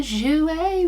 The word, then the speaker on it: Jouer: i loved my barbies oh okay jouer jouer jouer we've always got to say it like that